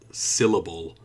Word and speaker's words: syllable: stress on it so syllable we've got the stress on the first one which is here syllable